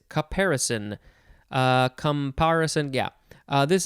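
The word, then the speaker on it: caparison: next we have comparison it's not comparison it is comparison uh comparison yeah uh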